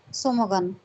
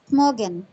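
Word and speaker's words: Smögen: Tomogen on Sweden's western coast is the small town of Somogan, a coastal destination where arriving is half the fun.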